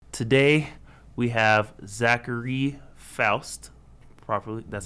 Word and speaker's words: Zachary Foust: Today we have Zachary Foust.